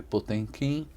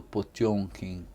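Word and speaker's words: Potemkin: A gente escreve Potenquin, mas a pronúncia correta é o encuraçado Pjonkin, né?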